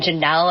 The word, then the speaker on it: Jannel: So, original, and it's ORIG, and then Jannel is spelled JANNEL, like channel and flannel, but Jannel.